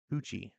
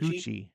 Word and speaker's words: Tucci: Billy Tookie's doing a cover or Tucci. Coochie Coochie Tucci. what Tookie Tucci. Coochie Tucci. Tucci Tucci. Rhymes with coochie.